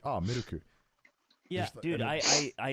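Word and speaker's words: ミルク: places, you know, milk is traditionally like just pronounced like gunyu, and then now in a lot of coffee places it's like miruku.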